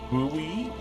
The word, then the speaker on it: buoy: on it says 11 it pronounce buoy buoy in like American English booy boo sorry you can't ins